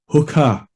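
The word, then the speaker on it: Hookah: hooker system H double o k a h hooker be careful how you pronounce that and how you spell it this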